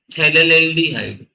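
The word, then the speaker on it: phthalaldehyde: CHO आ जाए तो इसका नाम होता है थैले्डिहाइड थैले लेडिहाइड ये इसका नाम है पीए साइलेंट है बच्चों यहां पर थैले्डिहाइड है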